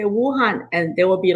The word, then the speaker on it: Wu Han: Helga, don't forget my name is Wuhan. You know, it's connected to the virus.